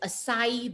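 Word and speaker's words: açaí: our monavie is the acai berry the a c a i is pronounced as acai berry but not just the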